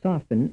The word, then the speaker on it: soften: mean statement B A the T in the word soften is silent B the letter T in the word soften represents no sound frame 36 in statement